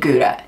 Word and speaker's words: gutta: So I want to introduce you to a product called Gouda, and it's not Gouda like in cheese. This is about the consistency of honey, and it's spelled G-U-T-T-A.